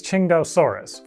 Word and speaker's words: Tsintaosaurus: I am pronouncing this Tsintaosaurus.